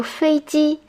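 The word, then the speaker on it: 飞机: means to fly and ji means machine so feiji literally means flying machine this is how you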